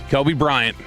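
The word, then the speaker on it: Coby Bryant: going to get a decent deal this offseason, Kobe Bryant. That's literally his name. It's spelled C-O-B-Y, though.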